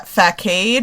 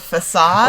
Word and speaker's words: facade: Mine was uh fade instead of facade.